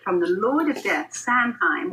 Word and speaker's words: Samhain: the lord of death sanheim or saw as it's pronounced where every witch every